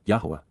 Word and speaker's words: Yahowah: the gestation of the horse child which Asher yahwah yah the proper pronunciation of the name of eloah God as